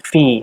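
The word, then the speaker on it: فِي: Yang berikutnya adalah lafadz fi. Di sini hukumnya adalah mad tabi'i atau mad asli. Artinya dibaca panjang. Panjangnya 2 harokat.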